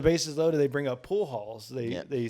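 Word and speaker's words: Pujols: So the bases loaded, they bring up pool halls. Yeah. They say, is that how you say his name? Pool house. Pool. Yeah, you were Pool close. It was halls.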